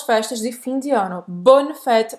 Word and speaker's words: bonnes fêtes: Bonne fête, presta atenção que os S's no final não vão ser pronunciados, tá?